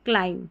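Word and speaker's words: climb: एमबी जो है देखिए आखिर में एमबी ऐसे आएगा और इसको म पढ़ेंगे क्योंकि बी साइलेंट है। लैम कॉम थंब क्लाइम ऐसे बी का उच्चारण नहीं होगा।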